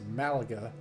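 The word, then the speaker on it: Málaga: And we're going to be taking off over at LEMG, which is in Spain, and I believe it's pronounced Malaga.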